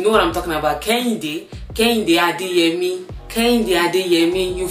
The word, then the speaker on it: Kehinde: So my Nigerian name is actually Kehinde. Okay? Not Kehinde. It's not Kehinde. It's Kehinde. If you have African accent, you know what I'm talking about. Kehinde.